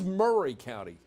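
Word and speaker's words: Maury County: Murray County Tennessee and it is Murray County it's it's spelled m a r y but they call it Murray but look at this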